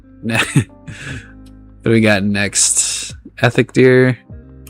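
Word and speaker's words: Eikthyrdeer: Ethic dear. Ectadier. That's how you say. I always mispronounce.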